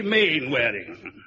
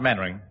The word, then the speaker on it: Mainwaring: Square you must be main wearing oh how do do Colonel actually it's pronounced maning then why the hell do you spell it mainwaring lot of nonsense S